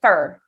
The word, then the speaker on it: for: And then this word, even though it looks like for with a circle lip, we don't pronounce it that way.